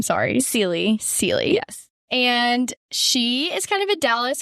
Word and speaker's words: Sieli: how do you say your last name sorry sely sely yes and she is kind of a